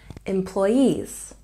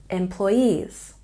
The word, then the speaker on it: employees: five and this one we have a little stress on the first syllable with the main stress on the last syllable employees employees let's take a look